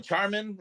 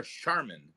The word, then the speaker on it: Charmin: I think I think why do you say it like that is it Charmin or charman charman is it charman I'm pretty sure I never heard anybody say Charmin because the commercials they're like Cha Cha Cha Charmin no I've never